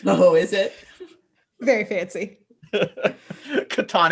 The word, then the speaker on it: Catan: Bananagrams, Settlers of Catan. I love Settlers of Catan. Catan? That's how What we is say it this? in the Midwest. Oh, is it? Very fancy. Catan, it's like Nevada.